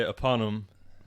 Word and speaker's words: Aponym: debate about that well I say upon him half the lord say he ate for them but some people say appalam happened yeah you